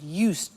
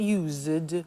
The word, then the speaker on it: used: the pronunciation I said used with t sound used not use it or you said used